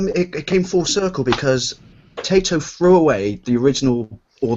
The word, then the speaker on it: Taito: You're supposed to pronounce it Taito.